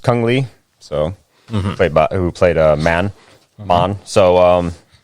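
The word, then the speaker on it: Cung Le: Anyway, okay, and I believe it's pronounced Kung Lee.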